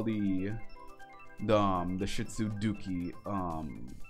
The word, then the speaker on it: Duke: I named him because Duke, like in Spanish, but how you pronounce it, like Dookie, like D-U-K-E.